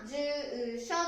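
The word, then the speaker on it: 住所: 書くときは住所と書きます。発音は住所。伸ばしますね。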